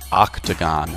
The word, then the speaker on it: octagon: Square pentagon hexagon heptagon octagon nanoon decagon one of these shapes is not like the others the O in octagon is pronounced ah the great pyramid is